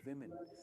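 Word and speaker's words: women: Ma'am अभी देखो चौथा क्वेश्चन, इसकी सही प्रोनाउंसिएशन है विमेन।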